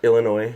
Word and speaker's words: Illinois: Yeah, Illinois. There's no S at the end of it.